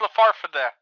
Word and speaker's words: Le Farfadet: It's a French name. It's Le Farfadet. French.